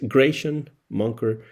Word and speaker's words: Grachan Moncur: Así que entró eh Graycian Monker tercero en una familia en la cual la música tenía eh presencia. Pero bueno, si ustedes no saben cómo pronunciar el nombre de este trombonista, es Grayan Monker the, el tercero.